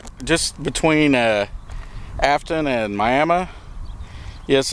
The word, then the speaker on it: Miami: on rout 66 just between uh Aton and miam yes it's it's uh pronounced miam not Miami but uh this is part of the original